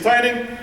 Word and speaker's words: Tynion: audience and this way from now on we will officially say James's last name is tining we're going to leave